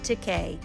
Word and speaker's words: Takei: Hi, I'm George Teay and you're watching Life Minute. One of America's most beloved actors and activists, George Teay recently released a new full color graphic memoir titled It Rhymes with Teay.